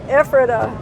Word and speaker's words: Ephrata: been dragging all the way from efrata or ephrata if i didn't remember how to say it ephrata pennsylvania so adios trailers you've been good trailers